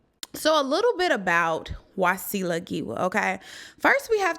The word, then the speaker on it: Wasila: father's name is wasu and my name is wasila now my original name was supposed to be pronounced wasil uhuh with a te was lot